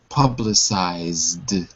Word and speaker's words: publicized: But normally, if you have a word that ends with a vibrating sound, zzz, it will always be pronounced like a d, like dog. Publicized.